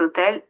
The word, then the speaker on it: hôtel: Cet hôtel est vraiment très chic. Oui, je sais. H ce n'est pas une voyelle mais ici c'est un H muet qu'on ne prononce pas du tout.